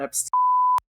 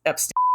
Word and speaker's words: Epstein: will prove it is Epstein not EP no matter who tells you it's Epstein I'm getting bleeped right